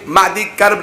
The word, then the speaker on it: معدی کرب: کے بڑے بڑے پہلوان، ایک معدی کرب نام، مہدی نہیں، معدی کرب نامی بہت بڑا پہلوان تھا، میم عین میم ہے سے نہیں، باقی ہجے وہی ہیں، بہت بڑا پہلوان تھا۔